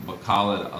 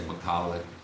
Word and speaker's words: Bacolod: So I call it Bacala. The people that I live with and around and friends over there, that's how they pronounced it with me living there. But I hear other people over here, foreigners mostly, will say Bacolod, and or Bacolod, and I just hear them over there say Bacala.